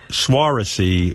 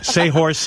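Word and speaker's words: Saoirse: Here's how you say her name. This is the star of the movie, the girl? Yes. Swarovski Ronan. Swarovski, you think it is? Seahorse Ronan. Seahorse Ronan. That's her name, I swear to God.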